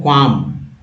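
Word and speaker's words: qualm: Next word exemplary के बाद तो दोस्त ये है क्वाम। क्वाम का अर्थ है, यहाँ एल साइलेंट है, आशंका, मितली, यानी कि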